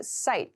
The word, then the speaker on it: cite: case to cite to cite the pronunciation here is site c-i-t-e so to cite something